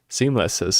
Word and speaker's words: Seamless R: a lot by watching Seamless R's. I mean, the R is silent. Seamless's tutorials.